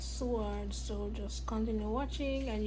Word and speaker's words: Seward: I'm not going to sword sword that's how it's pronounced because I was eaten up when I caught it seaward anyways um it's my